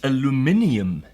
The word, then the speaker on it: aluminium: it's so light and it's aluminium as the British say and aluminum as the